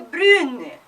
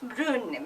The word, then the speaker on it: brune: La robe est brune. Brun becomes brune. When you put a E, the pronunciation changes.